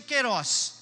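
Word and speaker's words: kairos: de Deus ela usa o termo quiroz que se escreve kairoz pronuncia Queiroz e quando ela fala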